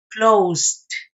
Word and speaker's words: closed: Luego entonces, el pasado de este verbo se va a pronunciar como T. Closed. Closed. Pronuncia usted la S y después la T.